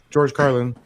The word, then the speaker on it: George Carlin: Am I saying the name wrong? George. No, okay, you're good. Yeah. George Carlin.